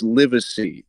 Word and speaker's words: Livesey: It's Livesey. I think we were both wrong. It's spelled Livesey.